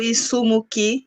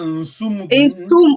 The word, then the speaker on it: Insumuki: Omono wa isumuki. Insumuki, tu prononces bien la nasale, Insumuki.